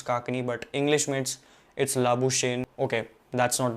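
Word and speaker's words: Labuschagne: the list is Manas लाबु शेन ऐसे ही pronounce करते ना भाई इसके सरनेम को लाबु शेन या शने लाबु काकनी I think the correct pronunciation is लाबु स् काकनी मानस लाबु शेन इ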